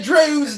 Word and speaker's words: Druze: Save the Druze now.